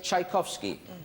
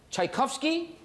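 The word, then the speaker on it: Tchaikovsky: wipeouts left can somebody tell me how to pronounce it the long one beginning with tle please are you talking about Peter IL chaikovsky that's the one all right choices Peter ilak chaikovsky passion okay what are the wipe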